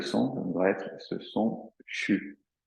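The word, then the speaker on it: xu: étape euh le son c'est un son qui s'écrit pas comme ça se prononce c'est des Chinois euh il s'écrit x U et il se prononce CHU alors CHU avec une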